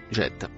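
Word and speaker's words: جاءت: Le mot bleu foncé se prononce jette.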